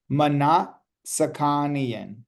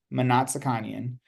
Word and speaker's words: Manatskanian: So, before you all ask, this is how you pronounce it. Manatskanian. Manatskanian.